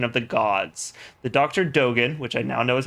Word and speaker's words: Dogen: Dogen, which I now know is how it's pronounced, studied the plants in this ancient place, resulting in the recipe for this special medicine.